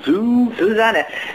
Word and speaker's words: Susanna: Susanna. Yes, that is actually because the normal pronunciation of an S in German is like a Z sound.